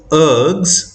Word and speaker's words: ergs: e r g a which is pronounced as ergs ERG it's basically a